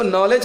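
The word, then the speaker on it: knowledge: वो से पहले रहेगा एन से पहले ये साइलेंट रहेगा ये समझ गए उसके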